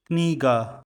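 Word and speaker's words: книга: Stress is on the first syllable. Kniga.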